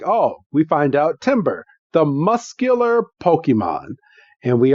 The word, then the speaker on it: Timburr: Yes, a Timber. If you're keeping track at home, that is spelled Timburr. Tim. Basically, Tim is cold. Yes. Basically think of a tree falling. Timber.